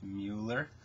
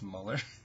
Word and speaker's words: Muller: Muller I believe though I've heard it pronounced Muller I'm pretty sure its molar I really like his